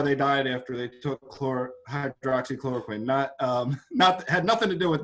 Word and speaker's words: hydroxychloroquine: And I mean, I noticed right away when they mispronounce it and they call it hydrochloroquine. No, it's not hydrochloroquine, it's hydroxychloroquine. Hydroxy means it has a hydroxyl group, OH, oxygen and hydrogen.